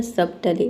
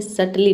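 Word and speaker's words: subtly: सबटली। लेकिन देख सकते हैं कि यहां पे बी के बाद क्या आ रहा है? टी आ रहा है। ठीक है? इसलिए बी साइलेंट है। इसे सर्टली पढ़ेंगे।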